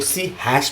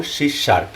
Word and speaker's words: C#: कुछ लोग सी हैश भी बोलते हैं। मेरे हिसाब से कुछ फर्क तो नहीं पड़ता, लेकिन एक्चुअल जो इसका प्रोनाउंसिएशन है, जो बोला जाता है, वो सी शार्प ही है।